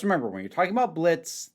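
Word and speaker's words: Blitzø: Just remember when you're talking about Blitz, the O is silent.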